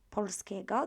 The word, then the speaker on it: polskiego: This time our L is in the middle of the word. It doesn't finish with it, but it's in the middle. So I'm going to pronounce it as the sound as it is.